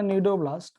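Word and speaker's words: cnidoblast: These are दोस्तों, these are, C is silent here, nidoblast है.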